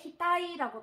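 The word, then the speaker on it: 額: 자, 그러면 이마액은 자, 훈독어를 읽었을 때 히타이라고 발음을 합니다.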